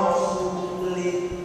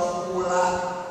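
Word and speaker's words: ورسولُه: Ada orang baca Quran salah. Inna Allaha bari'un minal musyrikina wa rasulih. Allah tidak melindungi orang musyrik dan tidak melindungi Rasulullah. Salah. Yang benar bacanya Inna Allaha bari'un minal musyrikina wa rasulah. Lah, jangan li wa rasulah.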